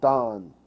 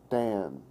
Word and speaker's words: Dan: the staff of dawn it's spelled ein in English but you pronounce it dawn not Dan dawn dawn means judge